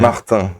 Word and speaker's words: Martin: Martin, as we say in French. What does that mean? Martin is his real name. Oh, okay. Pronounced the French way.